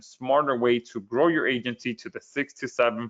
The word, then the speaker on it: Aigency: I'm introducing you today to Agency Valet. Uh the I is silent.